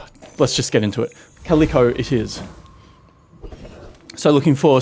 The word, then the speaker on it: Calico: Calico, as someone politely and in fact extremely aggressively, unnecessarily aggressively reminded me, is pronounced Calico, not Calico.